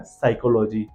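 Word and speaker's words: psychology: का प्रोनाउंसिएशन नहीं है, इसलिए उन्होंने आगे पी लगा दिया है, दैट इज वाई वो वर्ड हो गया साइकोलॉजी।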